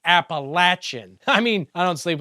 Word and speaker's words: Appalachian: Betty doesn't even sleep with his blood relatives like those of us who know it's pronounced Appalachin.